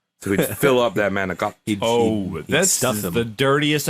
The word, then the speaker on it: manicotti: Manicotti? Manigotti? Manicotti. Manigot. Stuffed It's manicotti.